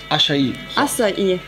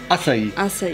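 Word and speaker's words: Açaí: Acai. Das C spricht wie ein S aus. Acai, genau.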